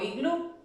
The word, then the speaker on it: iglú: La sílaba tónica es glu, y termina en vocal.